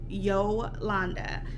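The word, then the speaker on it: Jolanda: Yes, it is spelled with a J, and yes, it is pronounced Yolanda.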